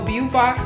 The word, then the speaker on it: Beaufox: I say it like that because like Beau, I think it's like beautiful and then Fox. So Beaufox, so this is their actual box.